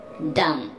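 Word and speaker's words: dumb: डम, यहाँ पे भी आपने बी को साइलेंट रखना है, ये वर्ड है डम।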